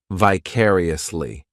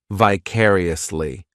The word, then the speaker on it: vicariously: This adverb has 5 syllables, and the stress is on that second syllable, vicariously. The third syllable, it's like that letter I just has that E sound, and the fourth syllable has the schwa, vicariously.